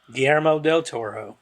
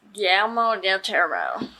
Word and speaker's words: Guillermo del Toro: How do you pronounce his name? Guillermo Del Toro. Guillermo Del Toro.